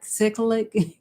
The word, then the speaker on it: cyclic: know and how it can become cyclic or cyclic that's how you pronounce the word where you know it